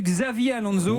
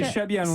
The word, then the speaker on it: Xabi Alonso: Là, j'ai entendu Xavier Alonso. Oui, mais bon, c'est Xabi Alonso.